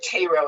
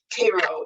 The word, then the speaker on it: Cairo: it as being near, or Cairo it's pronounced, I think, Cairo, Illinois.